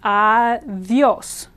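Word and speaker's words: adiós: Here, the I is weak, so it blends and becomes adios, where it turns into almost a Y sound.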